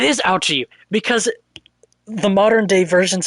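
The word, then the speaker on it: Auchi: indeed prosecutor out i i really hope that it actually is pronounced ouchy because that sounds like something capcom would do they would make a pun with his name it is ouchi because the modern day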